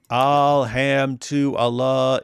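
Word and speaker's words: الحمد لله: Alham to Allah is how you pronounce it, right?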